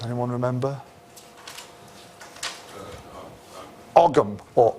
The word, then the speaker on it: Ogham: Ogham or Ohm, okay? Sometimes spelt with the H or not, depending on which Irish orthography you want.